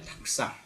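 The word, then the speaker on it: たくさん: 자, 닭굴상, 닭상, 닭쿠가 거의 발음이 들리지 않습니다.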